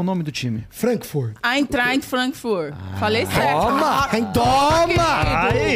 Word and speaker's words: Eintracht Frankfurt: Eintracht Frankfurt.